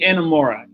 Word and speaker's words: Inamura: something I don't know I don't know how pronounce that man name oh no it's yimi inamura inamura okay okay okay I remember uh Vic